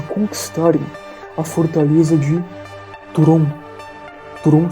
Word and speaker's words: Thuron: Turon se escreve Thuron.